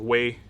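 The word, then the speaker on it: 威: Like right now, it's supposed to be pronounced Wei, like with like a flat Wei sort of sound, which means like powerful and strong. But you can change the tone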